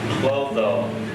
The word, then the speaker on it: Clotho: Why don't you pronounce the whole name now? Clotho.